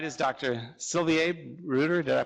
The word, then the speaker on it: Bruder: Sylvie Bruder. Did I pronounce that correctly? Bruder.